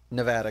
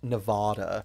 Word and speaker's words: Nevada: really do appreciate you pronouncing Nevada correctly as opposed to the uh ridiculous amount of Californians and TV celebrities pronouncing it Nevada Nevada yeah Nevada baby yeah we're not Louisiana there's no French accent in Nevada right here yeah yeah